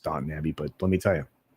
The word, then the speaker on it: Downton Abbey: Because believe it or not, I actually tried to watch Downtown Abbey. I know it's pronounced Downton Abbey, but let me tell you, that was not good.